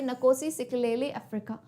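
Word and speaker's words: Nkosi Sikelel' iAfrika: एंड ये जो आपको नाम दिख रहा है ना, इसको कैसे प्रोनाउंस करोगे, नकोसी सिकलेली अफ्रीका.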